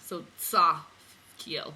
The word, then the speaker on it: Tzaphkiel: Tzaphkiel. They spell it T-Z, but they just spell it the English way with the Z. But in Hebrew, everything that's Z is like T-Z. So Tzaphkiel. But so here's Tzaphkiel, which